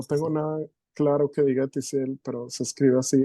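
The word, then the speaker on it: Ethisiel: que que no tengo nada Claro que diga tiel pero se escribe así e t h i s i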